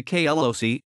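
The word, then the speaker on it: KLOC: computer programming expression the KL OC or KL OC pronounced K LOC standing for Kela lines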